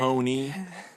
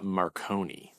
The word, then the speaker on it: Marconi: Marone. Maronei invented the radio. Jeppe, I think I was I think I was mis mispronouncing his name earlier. Yeah, Maronei. He uh he he Okay, hold on.